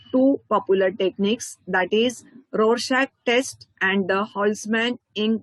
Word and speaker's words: Rorschach: The Rorschach ink blot technique, that would be pronounced as Rorschach, so I have written it here.